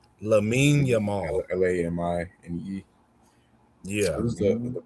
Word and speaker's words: Lamine Yamal: Lamine Yamal.